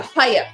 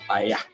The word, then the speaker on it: paella: Well, I found it, especially when you don't pronounce the L. It's very effective. Hiya! Paya.